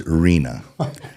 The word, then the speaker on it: Rena: I always have to be on the come in and correct the pronunciation of her name. Reena. So, it's Reena.